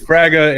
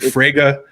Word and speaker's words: Fraga: for me my natural way of mourning to pronounce it is fragra Katie you know Fraga and then there would be some other people that pronounce it - Frigga that's it that's it that's it right there